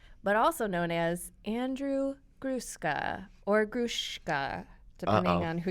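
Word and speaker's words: Gruszka: I've told everybody all my life it's Gruska. S-Z, Gruska. Okay. So you've told everyone that, but is it? There is allegations that it's Grushka. Grushka.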